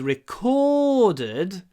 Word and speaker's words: recorded: Здесь важно, когда вы говорите recorded, сделать двойной звук. Recorded. Recorded. Вот recorded. Да, я уже произношу слитно, но все равно я хочу, чтобы вы слышали recorded, как будто вы говорите зоолог. Зоолог.